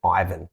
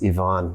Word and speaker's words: Ivan: about it before so in australia we pronounce it ivan which is not nearly as beautiful as yvonne which is the way